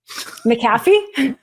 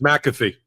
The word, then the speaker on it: McAfee: unwind the guilty plea you have an interesting way of pronouncing the judge's name maffy it's m it's McAfee oh my gosh I